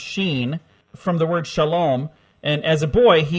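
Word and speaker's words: ש: the first letter of shin pronounced sheen from the word Shalom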